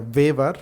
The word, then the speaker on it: Weber: discuss about Max waver this uh name is uh pronounced as a vaver we can also see